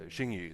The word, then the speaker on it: Xingyu: for you guys, is X is just the SH sound, and then so XINGYU is good. Yeah, that's what I told most people. But if there are any Chinese viewers here, it's XINGYU.